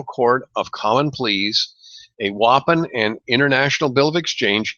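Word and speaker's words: UAPN: at advertising promissory notes an acronym whoppin that's how it's pronounced you APN and the international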